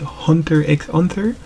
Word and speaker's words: Hunter x Hunter: yes I know guys some persons like to pronounce the X but I don't really pronounce the X I just call it Hunter Hunter but if you call it Hunter x Hunter like you would do